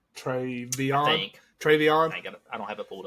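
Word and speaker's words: TreVeyon: Another big thing here is Ohio State finally found a running back at Trayvonia. Is that how you say it? Travion.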